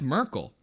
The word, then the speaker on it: Myrkul: Fucking Abathil is like, oh, that's Merkel.